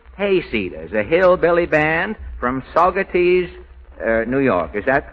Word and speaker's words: Saugerties: Now, first this evening, we welcome the Sickles Hayseeders, a hillbilly band from Saugerties, New York. Is that pronunciation that's right? That's right, Mr. Allen. Saugerties?